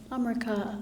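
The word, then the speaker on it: Amrika: from and I said amria amria Is How They pronounce it ah she said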